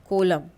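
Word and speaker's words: column: कुछ और एग्जांपल है इन the words given below the letter N is silent अपीयरर्स with M एट द एंड ऑफ़ the word जैसे हाईम कोलम autumn सोलम तो इनमें क्या है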